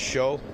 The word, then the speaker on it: Shiou: Uh show Deng. D E N G. Yeah, it's pronounced show.